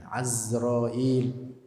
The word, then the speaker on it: Azrail: salam, Mikail, Asrafil, Azrail, bacanya pakai A, bi fathil ain, Azrail.